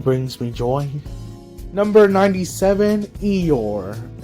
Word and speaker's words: Eeyore: Number 97, Eeyore, is how you say it.